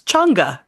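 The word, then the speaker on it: Chang'e: Smite which is also how I learned to pronounce chunga that mission from the Chinese space agency well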